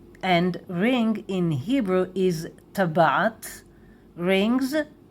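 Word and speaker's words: טבעת: And ring in Hebrew is tabat, rings, tabaot.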